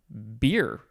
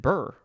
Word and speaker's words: bier: Okay, next we have beer, or is it burr? It looks like beer. The pronunciation guide doesn't have a long E sound.